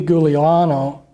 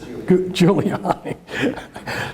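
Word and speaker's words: Giuliani: Now let's look at another person involved in all this Rudy Giuliano. I'm not pronouncing the name. I didn't pronounce I just Juliani. There you go.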